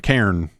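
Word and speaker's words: Cairn: I have recently been playing uh Kar Ka Kairen Kar C A I R N K.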